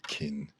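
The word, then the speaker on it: 斤: a oh okay well the pronunciation for it is kin it's just it's the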